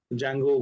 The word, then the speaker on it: Django: just to detangle okay spelling is django we call it a django d is silent sometimes people write these